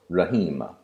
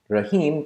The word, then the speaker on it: Rahim: name of the poet Rehema rahim consists of three syllables raah he and ma rough-ins in the short